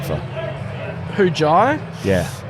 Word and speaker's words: Jhye: Jai's first name is spelt Jhye. Do you think what doesn't need to be there? The H or the Y? Without the Y, it'd be J. So I'm pretty sure the Y is necessary.